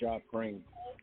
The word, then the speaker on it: Japreme: It's pronounced Japreme.